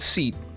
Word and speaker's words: SEAT: The car brand seat is pronounced the South American che, the sharp S instead of a sh.